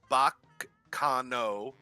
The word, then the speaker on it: Baccano: you go I figured I looked it up Bach Cano the Italian pronunciation yes it's it's it's